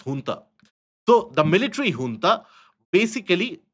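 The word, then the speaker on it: junta: Now the last time basically you had the Myanmar military ha what is known as or what is spelled as jantaa but not pronounced as jantaa pronounced as honta.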